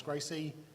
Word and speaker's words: GRCSE: and um The Graduate reference curriculum which we pronounce Gracie um both of which are managed by an